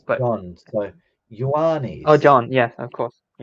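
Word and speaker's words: Ιωάννης: But in Greek, it's Ioannis. Ioannis. Yeah. Okay. So that HI A is like Yoa.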